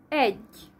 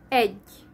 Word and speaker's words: egy: 1 is egy in Hungarian, egy, and in Russian agyin.